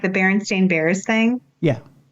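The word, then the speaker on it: Berenstain: supposed to be said but it's Baron stain s a i n like that's not what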